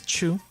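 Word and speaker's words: 中: of went over in which could also be pronounced as chu naka true but i think it's more commonly pronounced as naka depending on context again uh i don't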